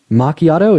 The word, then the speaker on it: macchiato: did the a go macchiato it's it's like a side ma no no macchiato that's how you pronounce it no no no way